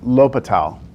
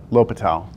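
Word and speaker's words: L'Hôpital: look it's it's pronounced l'hopital lopital um well Patel's rule the S is silent yes that's no excuse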